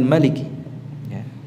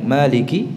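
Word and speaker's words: مالك: dan dalam ini lebih banyak yang membacanya dengan Malik yaitu yang sesuai dengan tulisannya adapun yang Maliki seperti halnya Imam Hasyim ya bacaan yang kita baca itu dengan menetapkan alifnya Maliki kedua-duanya adalah bacaan yang benar yang yang artinya dapat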